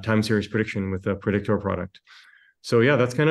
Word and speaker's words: Predictoor: How are we pronouncing that Predictoor? The way it's spelt, which I guess is kind of a play on the crypto Twitter meme.